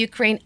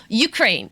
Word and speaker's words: Ukraine: 네, 우가 아니라요. 우유 할 때 유 생각하시면 돼요. 너, 유. 그래서 Ukraine. Ukraine.